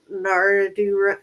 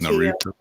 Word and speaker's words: Naruto: Naradu run? How do you say it? Naruto. Naruto.